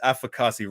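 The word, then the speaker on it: Afakasi: as well what's your name my name is afrikasi so that's spelled a-f-a-k-a-s-i so what that actually means is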